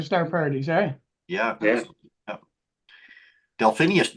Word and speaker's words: Delphinus: Delphinus. Delphinus. Delphinus. I've learned how to pronounce it after all these years.